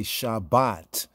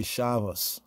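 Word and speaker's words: שבת: And therefore their pronunciation, of many words, it takes on the Eastern European, like we say Shabbat. In the Ashkenazic pronunciation, some say Shavos. It sounds like Shavos. It's like Shavos, right?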